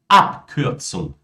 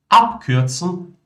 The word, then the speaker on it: Abkürzung: Que palavras que terminam com um B, né? Ou que possuem o prefixo A aqui, eles são pronunciados como um P. De fato, pessoal, B no final pronunciado como P.